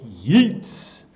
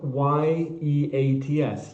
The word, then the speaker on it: Yeats: Yeats. No, Y-E-A-T-S, Yeats. Rhymes with Keats.